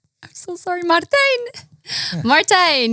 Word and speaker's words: Martijn: Martijn, yes. Well, you pronounce it perfectly.